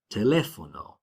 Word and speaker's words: teléfono: Then finally, rule 3 is if a word has an accent mark, that's the syllable that you stress. So if you see a written accent mark, teléfono, océano, tomé, your voice naturally goes up where that accent mark is.